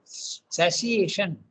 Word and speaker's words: satiation: The word is, this is English, it is TI is pronounced as sh. Okay, so satiation, satiated desire.